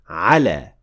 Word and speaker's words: على: Moving on to the last particle, which is ala, and it means on or upon. Much like ila, it also ends with alif maqsura that you should never forget to pronounce fully.